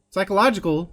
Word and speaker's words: psychological: record and his mandatory Sai Sai Khalid psychological there you go site that's how you pronounce that word psychological checkups for his